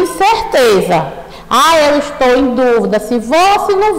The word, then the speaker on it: dúvida: Então, aqui o que diferencia na grafia é o acento e a pronúncia também. Aqui é duvida e aqui é dúvida, não é mesmo?